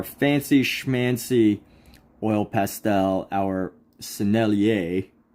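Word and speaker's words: Sennelier: schmancy oil pastel our selier as I guess the French might pronounce it selier we're going to use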